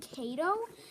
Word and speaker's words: Kato: If you guys want to know how I remember his name, it's because the word Kato rhymes with potato.